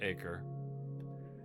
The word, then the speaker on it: Acre: I know what you're thinking. It's pronounced acre.